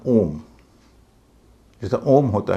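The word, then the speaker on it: ohm: है इसका उच्चारण है ओम जैसा ओम होता है वैसे ही इसका उच्चारण ओम है इसमें एच का उच्चारण नहीं होगा और चौथा शब्द है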